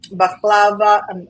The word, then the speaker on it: baklava: the kebabs and all of the different um baklava I'm not pronouncing it correctly of course and you're pronouncing